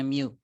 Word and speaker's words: mu: iya Bukan mu, mu. Oh ya mu. MYU dibacanya mu.